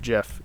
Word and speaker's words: GIF: on my phone and yes i pronounce it jeff if you don't it's okay we don't have to agree on that the red mirrors add